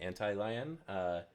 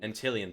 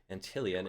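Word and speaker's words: Antlion: a mod mic by I don't know how to pronounce that name, Anti-Lion. Apologize to our sponsor there, and what this does, it actually clips. I think it's Antillion. Antillion, thank you, Antillion, and this clips onto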